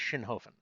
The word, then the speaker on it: Schinhofen: say your last name my last name is shinhofen very simple it is the leg bone of a prostitute found in a bog shin ho fen shinhofen very simple um i have